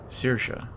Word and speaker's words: Saoirse: Jimmy Ward it's funny a lot of people don't know how to pronounce that name correctly since it's Irish Saoirse the more you know